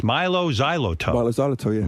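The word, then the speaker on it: Mylo Xyloto: the new album how do you say it's Milo Xyloto Milo zyo yeah Milo Xyloto that's a tongue twister who are you hanging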